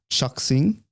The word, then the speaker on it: Chuxing: Okay, it's Chuxing. That's their full name, the full company name. Oh, so it's Chinese. It's Chinese, yeah. When you said sing, I thought it was S-I.